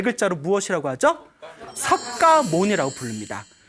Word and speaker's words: 석가모니: 가니라 이제 필기가 되었고 우리는 발음 하기를 이제 똑같이 석가모니 이제 발음을 하고 있습니다 알겠죠 그래서 석 가족에서